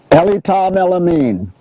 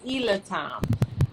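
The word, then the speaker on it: Elitom Elamin: to say it correctly ellie tom ellamine ali tom ella means see i've been saying ilatom um but yes this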